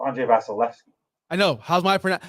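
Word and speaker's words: Vasilevskiy: How's my pronunciation of Vasilevsky? It's Andrei Vasilevsky.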